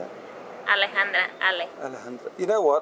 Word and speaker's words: Alejandra: Alejandra.